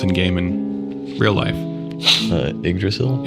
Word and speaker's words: Yggdrasil: Yggdrasil? Yggdrasil. Some people pronounce it different.